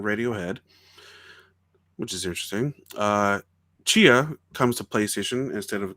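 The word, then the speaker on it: Tchia: be a functional chia how do you spell that it's called t c h oh oh i know i know which one you're talking about i didn't know how that it was pronounced like that though about the south uh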